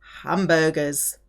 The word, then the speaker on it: hamburger: Julien ate 2 large hamburgers. Julien a mangé 2 gros hamburger. Hamburger, foreign word, starts with a aspirated H, which means you cannot say gros hamburger.